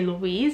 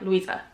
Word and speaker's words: Louisa: saying my name wrong they always say Louise it's a little Weezer and at first I was always like Louisa like they'll say Louise